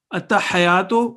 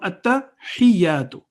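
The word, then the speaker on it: التحيات: Ta has a shadda on it. Ha with kasra and ya is again with tashdid. At-tahiyatu. At-tahiyatu would be wrong. At-tahiyatu is the correct pronunciation.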